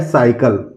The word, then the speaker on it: cycle: CYCLE, ये है साइकिल। साइकिल है दोस्तों, सी के बाद वाई आया हुआ है तो सीधे सीधे हम इसको साइकिल स से प्रोनाउंस करेंगे।